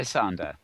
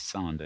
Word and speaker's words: Zander: Hi, Zander. Hello, good to see you, Mel. Great to have you here. Zander, I should say. I just mispronounced it as Sander, if anybody's keeping an ear open.